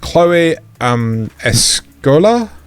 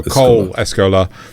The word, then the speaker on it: Cole Escola: A third season is already in production with Chloe Escola? Not quite Cole. No, Cole Escola.